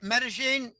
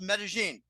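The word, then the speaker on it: Medellín: Okay, Medellin, but it's pronounced Medellin. Medellin. I'm pronouncing like an American would who doesn't know shit from Shinola about Spanish.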